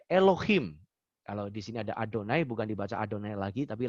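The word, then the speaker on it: יהוה: ya Atau biasa disebut Yahweh Yahweh gitu ya orang Ibrani orang-orang Israel tidak menyebut yahwe ataupun Jehova tapi dibacanya adalah adonai maupun Has Changed for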